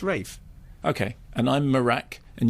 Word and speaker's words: Ralph: morac but you know if he says it's Rafe it's Rafe okay and I'm marak and you're Simon yeah